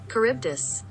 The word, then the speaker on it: Charybdis: to pronounce odysseus odysseus how to pronounce char char sharp dis charybdis kryptus so i was saying all of them wrong nice good thing i